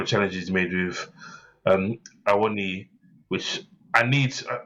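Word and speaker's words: Awoniyi: Every time they say his name and they call him Awoni, I'm like, that's not his name. You have to break it down. It's Awoni.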